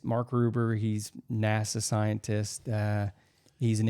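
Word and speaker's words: Mark Rober: He always corrects me, but it's Mark Ruber.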